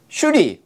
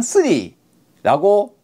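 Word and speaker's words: श्री: 수리가 중요해요 여기서는. 왜냐하면 수리, 마하수리, 수리, 사바하니까요. 다 수리죠. 그래서 수리가 뭐냐 이거죠. 수리는 슈리 혹은 스리라고 발음이 되는 산스크리트 또는 팔려예요.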